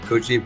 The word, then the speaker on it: Coogee: Yeah, half 10 at night, Tuesday evening in Sydney, down in, I call it Coogee, apparently it's called Coogee, but, C-O-O-G, so I think it's pronounced Oo.